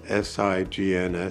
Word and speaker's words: signs: said oh that's signs the first s sounds like an S the last s sounds like a z the g is silent the I says its name and the N is my